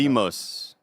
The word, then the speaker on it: Deimos: I think it is Demios. It's Demios? But it's spelled here, D-E-I. D-E-I. Hold on. Here we go. Hold on. Agogi. Agoge. Agoge. Oh. Okay. We're having fun today. It's Demos.